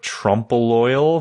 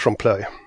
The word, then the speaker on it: trompeloeil: library though first what's the proper way to pronounce it's written I would Trumbull loyal but I'm guessing I'm butchering that how have